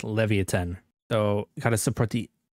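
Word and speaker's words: Leviatán: place Levi and 10 or Leviathan depending on how you pronounce it but I'm pretty sure it's pronounced Levan so got to support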